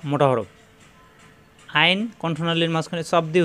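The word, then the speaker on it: ع: কীরকম নমুনায় আসবে আইন, সবাই শুনে রাখুন, আইন শব্দের শুরুতে থাকবে এরকম, মাঝখানে থাকবে এরকম, শেষে থাকবে এরকম, আইন, কণ্ঠনালীর মাঝখানে চাপ দিয়ে, আইন আইন আইন, জবর আসলে আইন জবর এরকম হবে, আ হবে না, আ হলে হামজা হয়ে যাবে।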